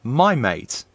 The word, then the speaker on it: Maimeite: mate i'm sorry it's it's a my mate okay it's no no that's how it would be pronounced my mate my might my might